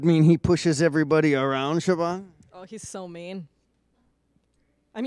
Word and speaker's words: Siobhan: I am Siobhan Meal. How do you spell Siobhan? It's spelled S-I-O-B-H-A-N, so not at all how it sounds. Not even close.